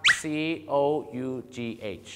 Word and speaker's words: cough: ะ ก ด ไ ง ค รั บ C O U G H อ อ ก เ สี ย ง ไ